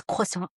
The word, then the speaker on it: croissant: They were like, "That's not how you say it. It's croissant."